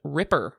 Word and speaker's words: RPR: Brian Curtis says is pronounced Ripper. So like the Ripper model, like raptor prey restraint, which fun.